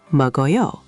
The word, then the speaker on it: 먹어요: The k connects to a, so 먹어요.